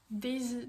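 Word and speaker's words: Dazy: hein, bien sûr, sur la marque Daisy. Donc genre ça s'écrit D-A-Z-Y, vous l'aurez en barre d'infos aussi.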